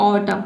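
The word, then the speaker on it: autumn: तो किसी भी वर्ड में अगर एम के बाद एन आता है तो वहाँ पे एन लेटर साइलेंट रहता है, ठीक है।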